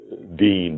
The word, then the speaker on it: Wien: Vienna is pronounced Wien, W-E-I-N, and that's where wieners came from, the word wieners.